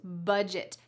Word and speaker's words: budget: they make a budget notice the pronunciation of this word budge it budget they make a budget